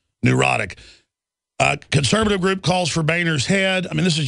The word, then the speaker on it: Boehner: I mean, John, well, it is pronounced Boner. He tells us to say Boehner.